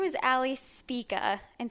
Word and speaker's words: Spika: can my bad so my name is Ali speaker and speaka is SP ika which is kind of hard to pronounce and in college you know everyone knows